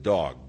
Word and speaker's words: Doeg: Doeg, and you could very well pronounce it dog, because he turned out to be a real dog.